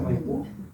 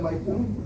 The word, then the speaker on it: Maipú: ahora todos hablamos de Maipú. En Argentina se habla del Teatro Maipo. Hay un enredo ahí, dice que es una palabra mapuche, o eran los argentinos que hablaban con el acento en la U, en fin.